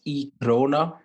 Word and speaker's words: e-krona: So Sweden, they introduced this e-krona, which sounds a lot like Corona.